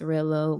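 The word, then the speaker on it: Rell0: And it also is pronounced Rello.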